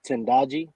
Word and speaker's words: Tendaji: this uh uh yeah my name is pronounced tendaji okay sorry yeah that's that's Swahili um but well first